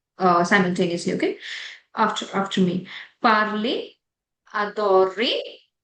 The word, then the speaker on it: adorer: जो ईआर की प्रोनाउंसिएशन आती है वो ए जाती है.